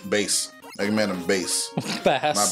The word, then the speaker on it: Bass: oh yes thank you oh that technically if you still want to pronounce it like bass is also not exactly right but it's also how you pronounce the fish well yeah I mean